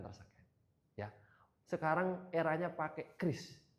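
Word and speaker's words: QRIS: Kris atau curis? Kris. Ayo. Kris. Enggak pakai curis gitu ya. Oh iya, karena kemarin ada itu konten-konten kan ya. Saya juga melihat konten dari Gubernur Bank Indonesia bahwasanya yang pelafalan yang benar adalah Kris. Walaupun kadang-kadang kita soksok Inggris gitu ya, curis bisa bayar pakai curies dan sebagainya gitu.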